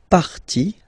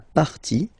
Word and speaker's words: partie: And then, when they're ending with ie, like here, okay, so basically you don't pronounce the e, okay, so it will be only the sound i, okay, for instance, la vie, life, okay, la partie, the part, okay, so